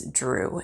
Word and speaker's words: Dru: chose, and that is Drew. And Drew is spelled D-R-U. It is the root of the word druid.